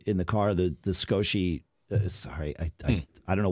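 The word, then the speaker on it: Scosche: the car the the skoshi sorry i i don't know why i started saying skoshy for years i've said scotch and that's the way it's pronounced the the skosh magsafe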